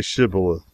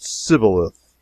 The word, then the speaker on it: Shibboleth: who could not say Shibboleth. The Ephraimites, being of a different tribe, could not frame to pronounce the word right, but called it Sibboleth, which proved them enemies and cost them their lives.